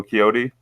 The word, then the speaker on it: Quixote: personal Spanish edition of Don Quixote, if I'm pronouncing that right. Don Quixote? Dan Quixote. Oh, Quixote?